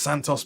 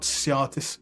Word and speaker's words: Santos: And that's pronounced Santos, by the way, not Siatis.